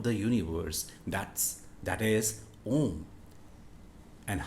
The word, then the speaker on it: om: oh and then um the correct phonetics of the alphabet m so it collectively can be called as o so by correct pronunciation